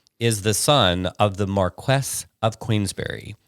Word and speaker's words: Marquess: so he's above an Earl so anyway the Marquess and that's the correct pronunciation because I looked it up I was going to call it Marquis but the Marquess of Queensbury so his son's dating Oscar Wilde